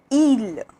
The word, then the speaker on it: île: So I is pronounced like E, that is like coffee, okay, coffee. For example, Petit, Petit, that means small. Livre, livre, which means book. Assis, assis, which means seated, okay, to be sitting, seated, assis. And île, île, which means island, île, okay, that's the pronunciation of I.